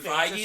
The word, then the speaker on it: Feige: not hold back so wow um for kevin feige to say that it's gonna be is that how you pronounce his name yeah really yeah what'd you